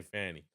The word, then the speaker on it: Fani: It's spelled Fanny, so I'm going to say Fanny.